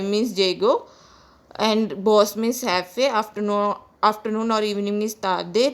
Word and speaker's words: jefe: And boss is pronounced as jefe because J is pronounced as hota in Spanish, so it is pronounced as jefe.